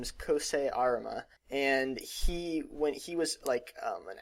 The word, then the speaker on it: Arima: First, Arima, seriously, pronunciation, it's Arima.